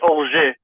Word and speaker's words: Auger: Well, it's Auger, but that's French. It's French? Yeah, it's French. I'm French. It's Auge? It's Auger.